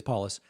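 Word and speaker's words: Polis: different states uh Jared is it pronounced Jared paulus I don't even know paulus I believe it's paulus um incumbent in Colorado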